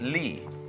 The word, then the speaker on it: li: universe which is this they pronounce it Lee now this sign has